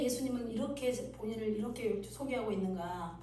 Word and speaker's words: 예수: 그래서 뭐 여러 가지 뭐 이렇게 발음들을 하지만 지저스보다는 예수 이렇게 예수라고 말하는 발음이 더 원어에 정확합니다.